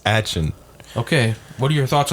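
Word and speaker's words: Achane: It's actually Devon Atchin or something like that. It's not A-Chain.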